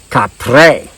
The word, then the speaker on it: Kapre: But before there was Bigfoot Sasquatch, there was Kapre. That's how you pronounce it.